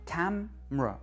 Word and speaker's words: camera: Ou encore, le mot "camera" en anglais, accent sur la première, va se prononcer "ca", "camera", "camera". La syllabe du milieu est réduite, on ne l'entend pas, "ca", "mera", "camera". Vous francophones, vous attendez à entendre "camera", l'anglophone dit "camera".